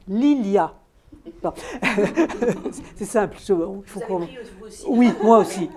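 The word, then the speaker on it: Lilja: et donc Lilia l I J a se prononce Lilia c'est simple fa aussi oui moi aussi moi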